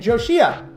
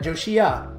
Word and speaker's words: Joshi: And Joshia. Joshi, not Joshia. That's Rabia, but Joshi.